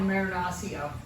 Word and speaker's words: Marinaccio: pronounces his name yeah is that correct Maranatha they call it marinasio yeah yeah I figured